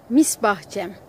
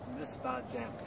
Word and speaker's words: Misbahçem: Misbahçem. Misbahçem. Thank you for pronouncing that.